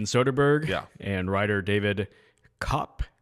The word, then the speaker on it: Koepp: And writer David Cop. I don't know exactly how you say his name. It's spelled like co co-ep. Co-ep. But I feel like it's just like cop.